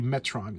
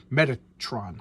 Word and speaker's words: Metatron: So whenever you hear like in the Bible that God is speaking, it's supposed to be Metron is speaking. Metron is the voice of God. Metatron.